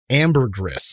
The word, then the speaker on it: Ambergris: What, how do you pronounce it, Steve? Ambergris. Ambergris Experiment.